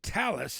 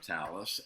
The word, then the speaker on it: Talas: which is so great yeah that's amazing so so Talus is if I'm pronouncing it correctly like Talisman right that was the